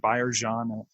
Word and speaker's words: Byers-Jean: My name is Byers-Jean. It's pronounced Byers-Jean.